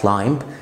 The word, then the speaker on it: climb: مفيش حاجه في الانجليش اسمها climb اسمها climb، مفيش حاجه اسمها متسلق climber اسمها climber، مفيش حاجه اسمها plumber اسمها plumber، وهكذا.